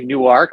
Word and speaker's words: Newark: Delaware okay there is we pronounced it differently we say new arc like two words new arc but it's we're very